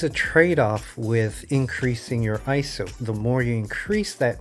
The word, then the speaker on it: ISO: iso today now many people including myself have pronounced this as iso and i've learned not too long ago the actual proper way to pronounce it is iso and what iso is is the sensitivity of